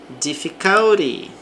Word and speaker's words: difficulty: Difficulty. Então agora a sílaba forte aqui no co.